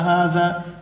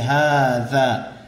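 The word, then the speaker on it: هذا: یہ ذہن میں رکھیں، ذال کی تلفظ کے لیے زبان دانتوں کے درمیان باہر کو نکلے، ہاذا ہاذا یہ غلط ہے، ہاذا کرسی۔ اہذا بیت کیا یہ گھر ہے؟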